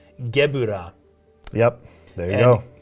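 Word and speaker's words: Gevurah: little more recently, but it would be pronounced Gebura, not Gebler.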